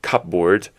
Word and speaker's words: cupboard: letters so for example if you say cupboard the p in cupboard is silence so you spell it as cupboard but you don't pronounce the P at all when you pronounce cupboard right so it's just cupboard so funny then fighting